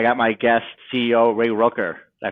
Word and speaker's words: Ruecker: I got my guest, CEO Ray Ruecker. Did I pronounce it correctly? Rucker rhymes with Tucker and Sucker and any other names you can think of.